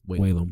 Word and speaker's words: Whalum: Is that Whalum? Whalum, yeah.